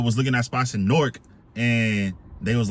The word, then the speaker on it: Newark: to move to uh norc and shout out to all my nor people because I used to pronounce it uh Newark they was like nah you got to say norc so I'm like you